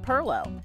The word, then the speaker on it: Pilau: great-grandson of those early minorcan families that made Perlo his restaurant Aunt katees named after his grandmother